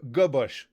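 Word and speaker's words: Gwozdz: mundane than that yeah go bush missy meow yep that was g-w-o-z-d-z is pronounced go bush good bush yes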